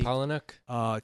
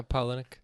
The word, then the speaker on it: Palahniuk: And I can never pronounce the writer's name. Can you say his name for Chuck me? Palahniuk. Chuck Palahniuk. Is that how you say it? Yeah, Palahniuk.